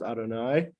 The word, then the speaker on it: Adonai: use are yud Kevin the four letter name which we generally and serve in prayer pronounces Adonai colloquially we refer to